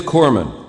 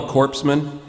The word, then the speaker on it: corpsman: it is it is Corman you don't pronounce the S yeah I mean it's not very good for a guy delivering first aid to be called a corpsan like if I'm laying